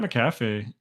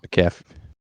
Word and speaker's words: McAfee: Pat McAfee McAfee. I can't say his name right now. McAfee. Yeah, McAfee. like the antivirus McAfee.